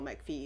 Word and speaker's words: McPhee: Mancuso Danny McPhee Danielle McPhee is the stationing I home Danny McPhee because it rhymes Adam Albert's who has